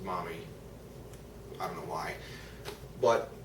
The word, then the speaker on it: momme: weird the word Mommy it's m o m m e it's pronounced Mommy I don't know why